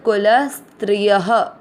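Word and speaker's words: कुलस्त्रियः: देखिए आधा स और त्रि ये स्त्रीय है शब्द, आधे स को आपको बोलने में प्रॉब्लम होता है इसलिए उसको ल के साथ आधे स को जोड़ा गया है। वैसे ये शब्द कुल स्त्रिय ये है, य में आ की मात्रा है इसलिए विसर्ग को यहाँ ह पढ़ रहे हैं।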